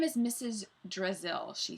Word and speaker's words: Drazil: drizzle it was just a little joke Brazil rhymes with drizzle I thought it might